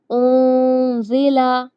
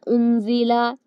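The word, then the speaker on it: أنزل: ينقضون، انسان، اندادا، ينطق، انزل، اس طرح نہیں پڑھنا، انزل، ينفع، نون کی آواز کو ناک میں چھپانا ہے، انزل، ينفع، ظننت، ممدود،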